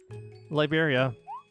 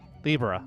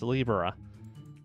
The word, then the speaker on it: Libra: Liberia. Wait, is that how you pronounce the name? Libra. I'm sorry, it's Libra.